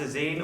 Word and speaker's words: Azine: It's pronounced Azine, although I was pronouncing it Azayan for about 2 weeks before I realised I was wrong.